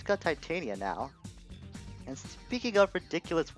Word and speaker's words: Titania: I'm gonna say Titania because of how the word is pronounced back in Star Fox 64.